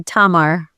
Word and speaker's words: Tamar: Tamar Tamar imposs on the first syllable.